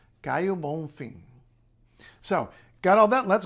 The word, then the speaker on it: Caio Bonfim: So the O at the end of a word is U. This is absolutely standard in Portuguese. You see it everywhere. The O is U. And N and M at the ends of syllables in any kind of Portuguese become a nasalization. So, Caio Bonfim.